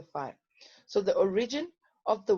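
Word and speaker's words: phi: the magnetic flux so for pronounced fire yes this side is pronounced as a fire so the origin of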